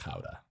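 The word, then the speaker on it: Gouda: that way it's like when uh people order guda it's pronounced Howa Howa is that really how you say it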